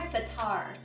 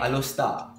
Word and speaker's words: Setar: Alostar. No, it's Setar. Okay, Alostar. What? Is that how you say it? Alostar, yeah. But it's like Setar.